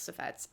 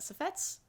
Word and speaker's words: suffetes: I think you say it suffets. Suffetes. Yes, that's how you spell it. Safets, I think is how you say it.